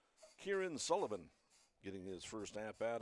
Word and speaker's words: Kieran: Kieran is spelled K-I-E-R-A-N. Pronounced Kieran Sullivan.